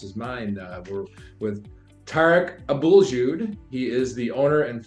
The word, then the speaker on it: Tarek Abouljoud: has a a similar challenging last name to pronounce as mine uh we're with tar Abul Jud he is the owner and founder of Teta